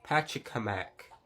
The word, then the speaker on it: Pachacamac: It plays with the lore a little bit, as we also see Chief Pachacamac. That's how it's pronounced.